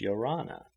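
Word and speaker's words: ia ora na: In 2s and 3s and groups they strayed along, shaking hands and uttering the Tahitian word of greeting, Yorana, pronounced Yorana.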